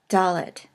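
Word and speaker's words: דלת: The fourth letter, Dalet, and it is pronounced D as in dog.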